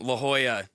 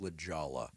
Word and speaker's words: La Jolla: I was in La Jolla.